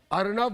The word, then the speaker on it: अर्नब: अरे सुनो, मैं क्या कह रहा हूं, अर्नब बोलो, संस्कृत में महासागर। भारतीय लोगों के नाम का उच्चारण करना सीखो।